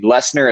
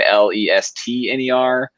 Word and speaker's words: Lessner: I mean, Lessner is sometimes Lestner, but like is really an easy thing to say.